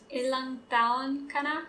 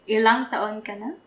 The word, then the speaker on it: Ilang taon ka na: Yeah, see the ang in the tao? The transition. Ilang taon ka na? Yes, that's it. Kana. Kana. Ilang taon ka na. Can you say it faster? Ilang taon ka na?